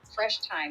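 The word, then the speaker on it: Fresh Thyme: Sprouts it's called Uh fresh time time spelled like the herb and it's like a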